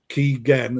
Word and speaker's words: Kigen: It's actually Keegan Gen as in Kevin Keegan.